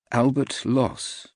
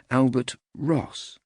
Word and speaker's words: Albert Ross: His name was Albert Loss. It was really Albert Ross, but the R was difficult for him to pronounce in his otherwise flawless English.